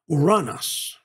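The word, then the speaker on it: οὐρανός: First, we have the Greek word pronounced uranos.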